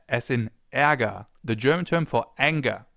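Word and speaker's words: Ärger: E, as in aga, the German term for anger. And anger actually contains a sound that comes pretty close. Anger. Eaga. E. Not the same sound, but fairly close.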